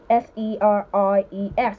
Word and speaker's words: series: S-E-R-I-E-S. You pronounce that word as series, not series or series.